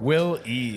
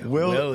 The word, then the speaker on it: Wille: Is it Will? How do you say your last name? Wille. Wille.